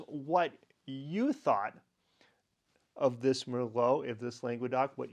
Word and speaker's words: Merlot: you thought of this Merlot if this language doc what your score is and until tomorrow I say a tuteler and cheers hello Merlo rhymes with hello I often think of